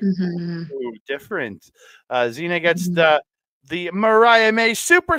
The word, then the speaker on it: Zina: But what I did write down was the Yina. Why did I do the Mexican pronunciation? Yina. Zina yeeting people around is just always impressive.